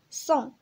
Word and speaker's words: sans: أول حاجة غادي نبداو بصون S A N S، S A N S صون صون. الاس هنايا موي موي، يعني ما كتنطقش. واخا اس ا ان اس ما كنقولوش صونس، كنقولو صون صون.